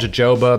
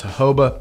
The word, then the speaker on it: jojoba: I used to call it jojoba, but then somebody told me to pronounce jojoba.